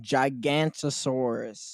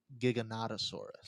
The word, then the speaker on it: Giganotosaurus: And Gigantosaurus. Well, you had Giganotosaurus.